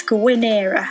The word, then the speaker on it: Gwynera: the garden center with gwynera and and don't come at me on that one because everybody pronounces the name wrong I am right it's going era okay so yes